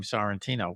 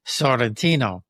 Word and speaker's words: Santino: everything like in Italy I'm embarrassed when I say my name Santino because that's not the way the Italians say it. They say Sentino, you know, sounds but